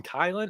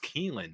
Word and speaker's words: Keelan: to land Keelan Fox some people call him kylan I'm pretty sure it's pronounced Keelan right I mean that's